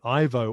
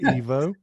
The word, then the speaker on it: Ivo: I've just realized, is your name pronounced Ivo or Evo? Because I realized that I've been saying Ivo all the way through this interview, and you've just said Evo.